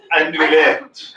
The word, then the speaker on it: andouillette: to pronounce them is half the fun. Endoilette. Andouillette.